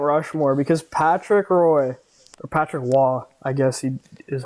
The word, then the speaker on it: Roy: on yeah Mount Rushmore because Patrick Roy Patrick wall I guess he is how you actually pronounce it he played 478 games for the